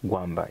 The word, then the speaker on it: Gwamba: His name is it Gwamba? Gwamba, yes. I got to pronounce it right.